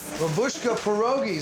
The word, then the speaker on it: Babushka Pierogis: BABUSHKA PIEROGIS, DID I SAY IT RIGHT?